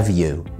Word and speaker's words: nephew: عندنا كمان niece يعني بنت، الأخ أو الأخت niece وعندنا كمان nephew أو في الأمريكان إنجليش كمان بنقول عليها nephew بننطق الإف في nephew والnephew أو nephew يعني ابن الأخ أو ابن الأخت.